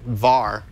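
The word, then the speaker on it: WARR: the the team from Munich University var even though it's spelled W ARR there's went up to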